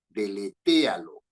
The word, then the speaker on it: deletéalo: borrar Ya deletéalo pues deletéalo con acento en la e deletéalo es una palabra esdrújula deletéalo significa borrar pero